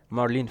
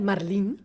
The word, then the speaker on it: Marlene: podcast with the mayor, Marlene Van Staden. Did I pronounce it right? Yes, you actually did. In Afrikaans, we say Marlene. Oh, Marlene.